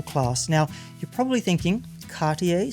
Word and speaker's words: Cartier: now you're probably thinking Cartier sounds fancy enough that I should pronounce it with a French accent even if mine is terrible and you'd be right but here's something unexpected Cartier's most iconic watch.